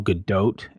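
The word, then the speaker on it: Gadot: by Laura and apparently it's it's like gal GDOT and not but I'm not no she's FR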